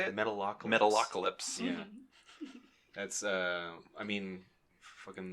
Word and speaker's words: Metalocalypse: Metapocalypse. How do you say it? Metalocalypse.